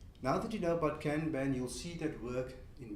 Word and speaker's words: Kanban: It's based on the Japanese word, which is pronounced more like Kanban, and it means visual signal.